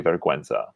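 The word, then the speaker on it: vergüenza: what most spanish words when you see g-u-e you say gay but in this case we say verguenza so that's another way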